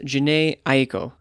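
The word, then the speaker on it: Jhené Aiko: manning from the present here her name is pronounced janae aeko and the title of the album is chilombo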